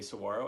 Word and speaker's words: saguaro: about the saguaro cactus I learned how to say so ro after saying it incorrectly while reading it the entire book so do not listen